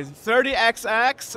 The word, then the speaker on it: 30XX: show us actually I don't know how you pronounce this 30 double double X 30xx okay 30xx and um we have been invited by stri